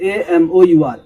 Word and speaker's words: amour: Next है अमर, AMOUR, अमर, जिसे हम करेक्ट प्रोनाउंसिएशन है AMOUR।